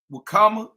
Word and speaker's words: Wakama: Wakama.